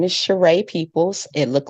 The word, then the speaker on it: Cheree: all of that okay well my name is shereé peoples it looked like Sheree but it's actually pronounced shereé I am originally from Los Angeles California I